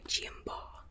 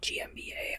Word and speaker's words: G. M. BA: When truth cowers by GMBA and yeah, that's how I say my name, by the way. GMBA. I mean, if you if you say GMBA, I won't oppose it.